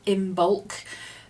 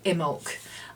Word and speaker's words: Imbolc: Some people prefer to call it Imbolc and pronounce that B, other people prefer Imbolc. I use the two interchangeably.